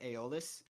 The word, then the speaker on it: Aeolus: Aeolus, and I think the more popular pronunciation nowadays is Aeolus.